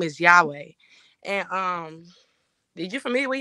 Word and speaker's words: Yahweh: So the proper pronunciation without the diacritic marks would be Yahweh.